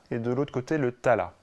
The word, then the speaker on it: tala: D'un côté, le raga, et de l'autre côté, le tala. Alors qu'on prononce rag et tal en Inde.